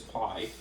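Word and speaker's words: π: Here's pi. There's an uppercase and a lowercase, which would translate to P. And it's not pronounced pi either, it's pronounced P, actually.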